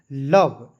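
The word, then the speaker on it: love: तो आपको याद रखना है दोस्तों शुरू के एल जो है इसको लिखना है ल और वी का दोस्तों लिखना है व। इसमें जो है ओ और इ साइलेंट रहेगा। ठीक है? तो इसे पढ़ेंगे लव।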